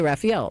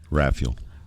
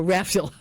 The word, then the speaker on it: Raphael: I always say Raphael, but you say what? Raphael. Oh, Raphael. Put the accent on the first syllable.